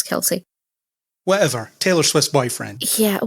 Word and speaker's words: Kelce: It is Kelsey. Is it? All right. I read a pronunciation guide and it said Kelce. Oh, I'm pretty sure it's Kelsey.